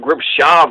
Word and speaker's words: Gripshover: the O and so we say it's in English what it looks like an English grip shover but I think when you pronounce it in German it's like group Chava or something like that because when if you